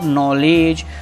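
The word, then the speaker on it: knowledge: Light stands, क्या नहीं भूलना, एस लगाना, फॉर नॉलेज, KNOW, के रहता है साइलेंट, नॉलेज मतलब होता है ज्ञान।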